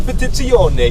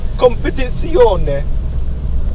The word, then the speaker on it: Competizione: Like they the have Competizione. You need to put an Italian accent on it. Competizione.